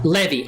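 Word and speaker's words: Levi: this quite a bit pronounced levy oh okay just like the blue jeans brother absolutely get whoo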